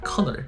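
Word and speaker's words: colonel: C O L O N 이거 클로넬 아니면은 뭐 코로넬이라고 읽을 건데 커널입니다. 커널 못 읽어요.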